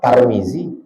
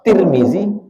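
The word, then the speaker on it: Tirmizi: ada siapa nama kau tarmizzi nama kau tirmizzi nama kau tirmizzi ah Yang mana Yang betul tiga-tiganya betul Tarmizi tirmizzi turuzi tiga-tiga bet Itu siapa Pak Basri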